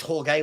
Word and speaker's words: Jorge: Jorge. Is it Jorge? It is Jorge when it's spelled like that, isn't it?